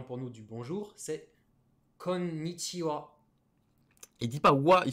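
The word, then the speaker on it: こんにちは: l'apprendra plus tard donc kohn nishi ou à konichiwa et pas konichiwa il ya bien le n konichiwa comme bas noah comme benoît et là c'était quoi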